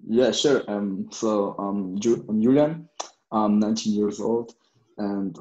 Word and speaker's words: Julian: we have my boy right there um um julian is that correct mike can i pronounce it correct yeah bro yeah so he's